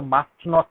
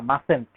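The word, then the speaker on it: mustn't: নট, এখানে মাস্ট, মাসেন্ট, এর উচ্চারণ কিন্তু মাস্ট নট না, মাসেন্ট।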